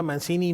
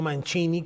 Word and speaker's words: Mancini: sí aunque era italiano él mismo pronunciaba Mancini no manchini como debería ser la pronunciación eh adecuada él nació en los